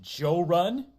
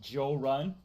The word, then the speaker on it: Jorrly: he finds my channel, he'll pronounce it Joe Run because I've had some friends from different parts of the South call me Joe Run, which is cool.